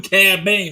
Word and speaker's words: Cad Bane: I know I knew C ban is I knew there was a K in there no it's just c a d b a n e well it sounds like a k it does I know